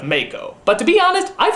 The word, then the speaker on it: Mako: Everybody's been telling me that his name is pronounced Mako instead of Mako.